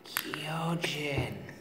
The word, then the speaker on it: Kyojin: And then anytime I'm there, I'm just trying to be like, Shane, it's pronounced Kyojin.